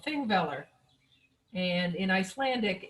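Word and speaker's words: Þingvellir: we went is called thingveller and in icelandic it's this is what a it looks like a p but it's a th pronounced as a th so it's one of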